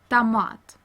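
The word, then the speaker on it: томат: Russian word sok, juice, and we read O as short A in the unstressed syllable. For example, like in the Russian word tomat. As you see here in this word, we have two vowels, O and A is stressed and O is unstressed. So we pronounce O as A.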